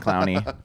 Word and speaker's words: Clowney: Yeah, you got Clowney.